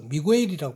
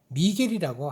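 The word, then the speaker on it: San Miguel: 자, 그래서 미구엘이라고 발음하지만은 미겔이라고 하는 게 더 맞습니다.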